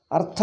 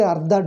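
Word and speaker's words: अर्थ: what do you say artha is meaning is half if i say ardha do you understand no no no he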